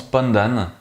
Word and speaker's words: pondan: En malaisien, il y a un terme que j'ai trouvé qui se prononce Pondan, mais je ne sais pas vraiment si il est adéquat de l'utiliser ou pas pour parler des personnes travesties.